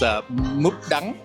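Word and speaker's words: mướp đắng: There's 2 versions. There's in the south, it's khổ qua. Yeah, and in the north, it's múp đắng.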